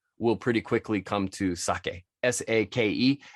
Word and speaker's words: sake: And no, it's not pronounced sake. Sake would be S-A-K-I, sake. S-A-K-E. E, when you see a Japanese word with an E in it, the E is always pronounced like it's pronounced in Spanish. It's E. All right, so pretty easy.